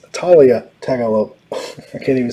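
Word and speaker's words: Taulia: seven in a row talia taggart pronounced talia that's right he was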